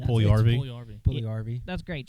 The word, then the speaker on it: Puljujärvi: I'm not pronouncing that last name. That's, Puljujärvi.